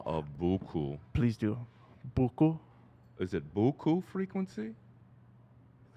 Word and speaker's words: Boku: Boku? Is it Boku frequency? Is that the Not correct way? Boku. Yeah. Not Goku Boku. Boku. Yes.